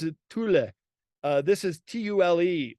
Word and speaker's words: Tule: The Germans would pronounce it Thule. This is Tule, like the Thule reeds, and they would make